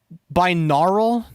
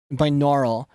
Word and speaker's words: binaural: But yeah, it's like meant to be like a binaural. I don't even know how to fucking spell it.